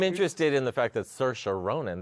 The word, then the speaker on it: Saoirse Ronan: Well, I'm interested in the fact that Saoirse Ronan, that's how you say it, folks, Saoirse Ronan, who is up for the Oscar for Brooklyn, is in starring in the Winona Crucible.